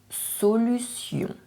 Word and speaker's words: solution: La solution. Be very careful here. Even if you see a T, it is pronounced like a s, like the little snake.